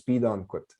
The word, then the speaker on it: Pidawanakwit: Like in my last name, Pidawanakwit, is the way we would say that is Pidankwit.